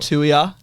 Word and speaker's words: Tuia: achieved Premiership Duo are in the house Scott Tua I think I got that right and Taj